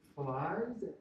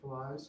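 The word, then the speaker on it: Pillai's: Some suggest using, I would pronounce it Flies. How would anybody else pronounce it differently? P-I-L-A-I apostrophe S, Flies trace, is how I've always pronounced it.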